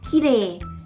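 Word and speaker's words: きれい: เน้น คำ ว่า ว่า ขี้เหร่ ขี้เหร่ ใน ภาษา ญี่ปุ่น เนี่ย เรา น่า จะ ได้ ยิน กัน บ่อย ใช่ ไหม ว่า คำ นี้ เนี่ย มัน จะ ออก เสียง คล้าย กับ ภาษา ไทย เนาะ เอา เสียง คล้าย กับ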